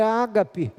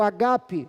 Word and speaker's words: ágape: Amar vem do verbo agapau no grego, e o substantivo é ágape, ou agape, dependendo da pronúncia.